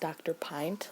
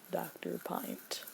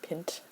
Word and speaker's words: Dr. Pint: horrible but it's pronounced dr. pint like a pint of blood dr. pint I loves kind of hard to pronounce like pinch no it's pint so